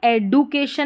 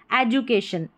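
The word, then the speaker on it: education: यहां पर एडुकेशन नहीं पढ़ रहे हैं। ठीक है? ए डू बन गया। डी यू। तो यहां पर जो ये ये रह रहा है डी इसको ज पढ़ेंगे तब हमारी स्पेलिंग सही बनेगी। एजुकेशन एजुकेशन और शन यहां पर हमारा कोड है। डी को ध्यान रखें। ज पढ़ा है।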